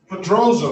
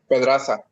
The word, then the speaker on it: Pedraza: And Pedroza, right? Pedraza with an A.